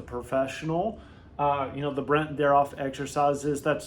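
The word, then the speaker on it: Brandt-Daroff: Uh you can do uh Brent derof exercises.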